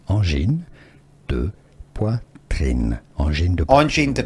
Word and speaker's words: Angine de poitrine: Angine de poitrine is the French pronunciation. French-speaking part of Quebec. Angine de poitrine is the Angine de poitrine. French pronunciation. Angine de poitrine.